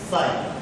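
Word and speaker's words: ψ: known as electric susceptibility it इ pronounced S साई सी आई ऐसा लिखते है उसको सा तो ये जो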